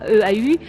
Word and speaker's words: eau: Lorsqu'on dit de l'eau pour boire, également E-A-U, on a le même son que le mot précédent.